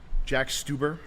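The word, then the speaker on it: Stauber: It's pronounced Stuber. Stubber. Oops. Jack Stubber.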